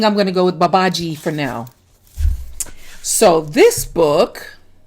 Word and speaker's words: Babaji: today is yes little babahi or little babaji depending on whether or not you pronounce the j b a b a i think i'm going to go with babaji for now so this